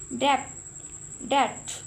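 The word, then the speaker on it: debt: डेट, ठीक है, तो यहाँ पर बी साइलेंट है, ओके जी।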